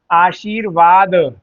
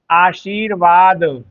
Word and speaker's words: आशीर्वाद: जब भी र आधा होगा तो कहां जाएगा? वह हमेशा लगेगा अगले वर्ण पर। तो कभी भी आप आधा र जब भी बोले जहां से उच्चारण होगा उसके अगले वर्ण पर जाएगा। उदाहरण के तौर पर एक शब्द है आपका आशीर्वाद। आशीर्वाद।